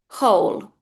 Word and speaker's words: whole: This W is completely silent. So whole.